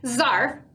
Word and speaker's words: Zarf: zarf by Rob Harrell Czar rhymes with barf is at the bottom